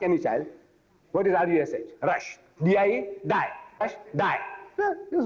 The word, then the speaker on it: Rushdie: And Rushdie, see, Rushdie should be spelled rightly, the way we pronounce. Rushdie, R-O-O-S-H. Rush, D-E-E-D. Name, R-U-S-H. Rush, D-I-E. What is D-I-E? Die! Rush, die, die.